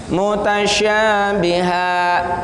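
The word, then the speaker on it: متشابها: Mutasyabiha, ya, perhatikan di akhir mutasyabihan, tulisannya mutasyabihan, tapi apabila kita wakafkan berhenti bacanya mutasyabiha, ya, dihilangkan tanwinnya satu maka bacanya seperti itu.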